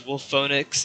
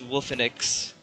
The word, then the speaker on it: Wolfenix: And so I decided to call myself Wolfenix, because Wolfonix is what my friends thought it was pronounced as, but it's not, it's Wolfenix.